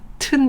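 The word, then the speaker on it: mountain: 마운틴 하셔도 됩니다 근데 영어는 요 마음 층 마음 틴 아니고 튼 이에요 튼 튼 살을 바르는 튼살크림 하듯이 튼 이에요 마음 진 한번 따라해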